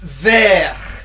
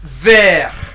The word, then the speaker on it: vert: All together, vert. Vert. Vert. Vert. Now in French, the letter R is really very, very important.